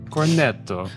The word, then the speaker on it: cornetto: Cornetto. Cornetto. You got to like loosen up your tongue.